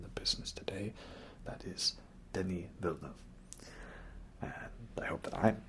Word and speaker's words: Denis: business today that is denis and i hope that i'm pronouncing it properly you know that's not it's not dennis it's denny right in interviews he's like